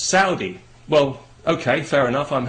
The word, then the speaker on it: Saudi: have said to me you know you're you're pronouncing that wrong it's not Saudi it's Saudi well okay fair enough I'm happy to pronounce